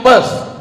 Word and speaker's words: Perth: I am going to Perth. Bukan pes, kalau pes penyakit. Perth.